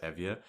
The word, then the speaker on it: Euboea: It looks like Euboea, but it's actually pronounced Evia, where Eritrea was on.